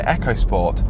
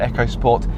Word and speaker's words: EcoSport: yes it is pronounced echo sport and not eco sport it looks like it should be pronounced eco sport but it's definitely echo look it up new